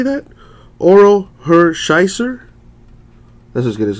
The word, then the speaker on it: Hershiser: Orel Hershire. Or how do you say that? Orel Hershiser.